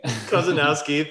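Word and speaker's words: Korzeniowski: He's represented and collaborated with composers like Abel Ko, oh my gosh, I'm gonna get his horrible name wrong, the Polish composer who did Single Man. Kozanowski, thank you.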